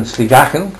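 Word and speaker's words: Sligachan: Skye, and she was in a hotel in Sligachen, is that how it's pronounced?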